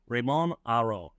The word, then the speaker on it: Raymond Aron: pronunciation I think it's Raymond Aron is that right raymon Aron so you basically drop the D and Aron like auu oh Aron like auu perfect so who was he